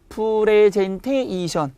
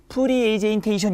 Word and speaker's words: 프레젠테이션: 그러니까 미국인들은 프리제인테이션 이렇게 하더라도 영어에서 프레젠테이션이라고 하기 때문에 우리는 원지음 발음을 해서 프레젠테이션이 맞는 겁니다.